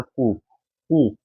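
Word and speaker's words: coup: next है हमारा 471 कुक कुक इसमें पी साइलेंट होता है क्या होता है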